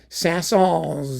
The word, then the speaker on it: Saint-Saëns: Some of you were screaming at me and I didn't even ban you forever for saying I should pronounce the S at the end. Sasson.